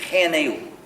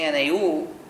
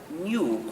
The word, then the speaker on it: GNU: pronunciar correctamente nuestro nombre algunos hispanohablantes suelen decir G pero es muy incómodo si dices nu no es malo pero otros no queran repetirlo Entonces cuando hablas Castellano es mejor pronunciarlo New como si comenzara por ñ lo que es también el nombre del mismo animal en castellano entonces y en castellano